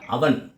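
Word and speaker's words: oven: ஓவிஏஎல் oval, ஓவிஎன் ஓவன் இல்லை, அவன்.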